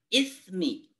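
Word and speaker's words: الإثم: ini tak jangan baru jangan salah pengucapan usah bukan Ismi bukan juga Ismi tapi yang betul Ismi saat alel Kiss me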